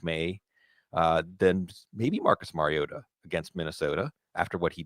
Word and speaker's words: Mariota: Marcus Mariota at Minnesota. Mario Ta as Chris Collinssworth and Mike Trico kept emphasizing tweeting that they'd been pronouncing it wrong his entire career.